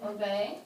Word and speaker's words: obey: So there are 2 syllables. The stress is on the second syllable.